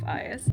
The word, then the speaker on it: Ios: I did pronounce it yesterday super wrong, but it's Garden of Ios.